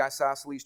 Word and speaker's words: isosceles: It's isosceles. All right? It's isos, all right? I-S-O-S, and then celes. C-E-L-E-S.